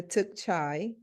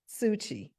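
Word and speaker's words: Tzu Chi: The Tootsie, the Took Chai, am I getting that right? How do you say that? Suchi.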